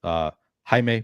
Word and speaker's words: Jaime: Jaime Barria for the Angels. Jaime Barria, you don't pronounce the J right.